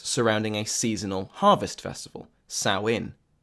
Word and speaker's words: Samhain: a seasonal harvest festival sow in sow in which is spelled s a.m. Haan and which I believed was pronounced Samhain until I was informed otherwise was a feast practiced